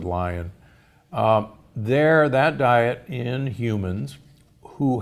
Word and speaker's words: Lyon: Lion Heart Diet or the Lyon Heart Diet, Lyon, but most from Lyon, France, but most people pronounce it Lion.